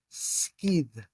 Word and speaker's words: σκιδ: We're thinking today about the Greek root skidh. Skidh. Now, this is spelled a couple of different ways.